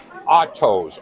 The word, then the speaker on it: Otto's: Is it pronounced Otto's or Otto? Otto's. O-T-T-O-S.